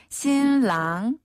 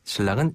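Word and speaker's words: 新郎: 신랑이랑 신부는 발음이 우리 한국 발음이랑 비슷한 것도 있어요. 신랑이란 어때요? 발음. 자, 신랑 먼저. 신랑.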